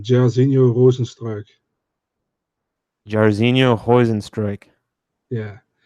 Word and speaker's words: Jairzinho Rozenstruik: Um, you want the pronunciation, Jairzinho Rozenstruik.